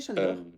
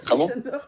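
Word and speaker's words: Sándor: Mon prénom en fait c'est Chandor mais avec le S parce en en hongrois le S se prononce Ch.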